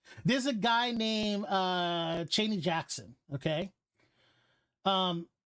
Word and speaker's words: Cheyenne Jackson: a guy named uh chaney jackson okay um it's actually cheyenne jackson but i don't know if that's how he actually calls himself but that's how it's spelled um this guy was